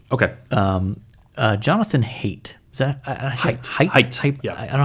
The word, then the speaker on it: Haidt: Is that Haidt? Yeah. I don't know how to pronounce it. It's Haidt.